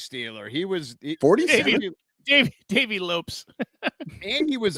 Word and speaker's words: Lopes: You say his name wrong. We're laughing because, you're messing up his name. Pour one out for your pronunciation of Davey For Lopez. my drinking, Lopes. Davey Lopes. See how I am?